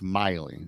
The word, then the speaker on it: Maile: So when I seen this, I said, "Oh, Tim Maile," and then it's Miley.